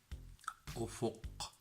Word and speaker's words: أفق: So when you stop on this word, you feel how deep it is, and you feel how the echo that you have when you pronounce this word from inside of the mouth and also from the beginning of the throat.